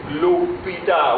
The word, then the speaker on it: hôpital: And when you are pronouncing it, listen again. L'hôpital. What do you hear? You hear O.